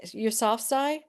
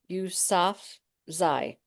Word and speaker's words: Yousafzai: Yousafzai. So Malala Yousafzai.